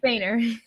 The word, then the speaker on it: Foehner: Foehner.